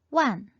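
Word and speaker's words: 万: 만은 완, 완, 완. 우리말과 굉장히 비슷하죠? 다시 한번 두 번씩 읽어볼게요. 빠이, 빠이, 첸, 첸, 완, 완.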